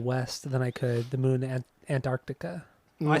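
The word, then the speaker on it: The Moon & Antarctica: than I could the moon an Antarctica I said it right see there you go you didn't say and though yes I did I said Antarctica it's not Moon Antarctica it's Moon and that's what I said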